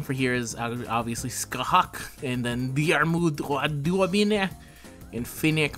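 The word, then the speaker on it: Scáthach: i'll gladly say it someone taught me how to do this ask a hawk but i don't think i ever asked for dear mute and theon um i already have skahak at np2 so really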